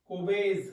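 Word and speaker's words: Kolbe: आती है that is कोबेज reaction, that is कोबेज बेटा, एल is silent over here, कोबेज reaction है बेटा, ठीक है।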